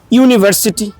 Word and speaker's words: university: এন বসেছে আর ইউনিমাস ইউনিভার্সিটি unique এদের ক্ষেত্রে দেখুন উচ্চারণটা যখন ইউ যখন উচ্চারণ ইউ এরকম করে ডাবল ভাউল কিন্তু শুরুতে উচ্চারিত হচ্ছে মানে দুইটা ইউর মত